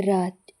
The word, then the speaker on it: wrath: W silent ಆಗಿರುವಂತಹ ಪದಗಳು ಉದಾಹರಣೆಗೆ ರಾತ್ ಕೋಪ. WRATH. ಇಲ್ಲಿ ಡಬ್ಲ್ಯೂ ಸೈಲೆಂಟ್ ಆಗಿದೆ.